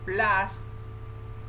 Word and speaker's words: plus: pacman es el sujeto plas es el signo más en inglés se escribe plus plus pero se pronuncia plas entonces first de software